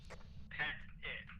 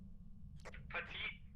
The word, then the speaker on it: Pettit: Pet it, basically. I Again. know somebody who has their name that's spelled exactly that way, and that's how it's pronounced. I was reading it a little bit different. Petite Au Petit Cafe.